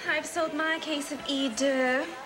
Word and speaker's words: Eau de: It's pronounced Eau de.